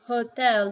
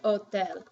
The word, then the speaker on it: hotel: And you don't say, for this word, you don't say hotel, you say hotel. So H is silent. Whenever you see the H, just don't pronounce it, okay?